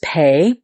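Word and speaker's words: פ: alphabet the letter is pay it also can be pronounced F depending on the little dots it's given has a dot inside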